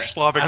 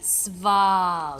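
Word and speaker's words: Svalich: So anyway, before Slavic Slav. I can't even remember how to say it now. Slavic? God, Slavic? It's SV. Svalik.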